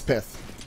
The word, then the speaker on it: Pythe: It's Pythe. Pythe, okay. I was saying it correctly, I don't know why I thought otherwise, but maybe we see